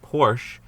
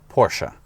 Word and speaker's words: Porsche: Well, this is a Porsche 910.